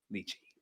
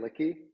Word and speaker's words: Lichy: Sometimes they get Licky, which is for another time, but it's Lichy. You pronounced it correctly. It's Lichy.